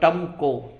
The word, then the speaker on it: TMCO: और मेरा अपना चैनल है TMCO, मतलब टमको, TMCO, ये इसकी वो है स्पेलिंग है, TMCO, टमको।